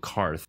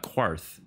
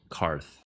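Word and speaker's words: Qarth: Daenerys made it to karth not quarth karth and you know they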